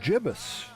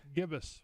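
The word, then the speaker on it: gibbous: know website and it said the another alternate pronunciation is Jibus. Really? And I've never I've never said anything but gibbus.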